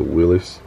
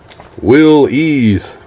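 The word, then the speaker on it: Willys: was cool there's a willis willy's don't want to get corrected say willis they'll say no it's pronounced will ease there's a corvette with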